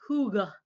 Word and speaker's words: hygge: This word, it's pronounced hygge, and it's a very popular Danish word.